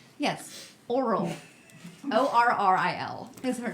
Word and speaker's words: Orril: Orril is her name.